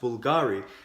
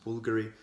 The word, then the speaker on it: Bvlgari: at the brand, and I used to think it was pronounced Bvlgari, and when I was doing a bit of research I figured out it's actually pronounced Bvlgari.